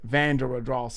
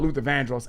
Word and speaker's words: Vandross: my father, Luther Vandros, but he said it van Vanderross, I think he said to make it rhyme with Randy Moss later.